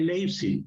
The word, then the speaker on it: Leipzig: en la batalla de Leipzig. Se escribe Leipzig, ¿no? Con IP al final, pero como es alemán se pronuncia Leipzig.